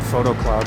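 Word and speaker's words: Foto Club: That I'm going to is called Photo Club. It's spelled F-O-T-O, and it's run by some pretty young people that they run photo events.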